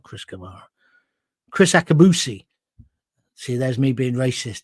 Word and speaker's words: Akabusi: uh what's his name not Chris Kamar Chris akabusi see there's me being racist two black people and I immediately got the name wrong I'm not racist it's just the way